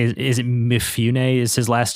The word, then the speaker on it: Mifune: Is it Mifune? Is his last name something like that? Mifune, yeah.